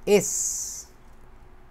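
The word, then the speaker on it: es: এইটাই হইতেছে ডয়েশে বলে হচ্ছে এস। সরাসরি ওই এস এর মতো উচ্চারণই। হ্যাঁ, এস, ওই যে এর ক্ষেত্রে উচ্চারণ যেরকম ছিল, এটা হচ্ছে এস এর মতো উচ্চারণ।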